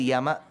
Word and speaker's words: Yama: First of all, the pronunciation is not Yam. It is Yama. See, the problem is we are caught between the Vindhyas. If you come to the south of Bharatadesham, we add an unnecessary A.